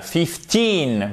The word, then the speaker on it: fifteen: c'est juste quinze balles fifteen vous avé l'accent tonique sur la deuxième syllabe donc ce que vous